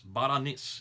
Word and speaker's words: Berenice: And then the next one is Berenice, which is in Egypt. Or Baranas. Baranis is another way you can pronounce it.